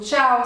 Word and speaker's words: ciao: le plus connu c'est tout le monde dit ciao donc voilà ciao c'est ça c'est vraiment l'exemple typique donc le son t se fait uniquement devant deux lettres c'est le I et le E donc ciao ça s'écrit C I a o et donc vous